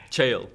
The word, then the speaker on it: Cheil: As the head of, the sail, I never actually can pronounce very much Cheil.